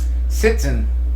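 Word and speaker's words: sitzen: schn it's schn schnare sitson is how you say sit in German why you got to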